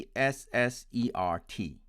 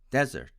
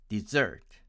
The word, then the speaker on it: dessert: to pronounce it as desert with the stress on the first syllable and my american friends pronounce it as dessert dessert with stress on the second syllable and please note that